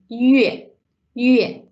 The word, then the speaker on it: 月: So the month, when we say months in Chinese, is 月.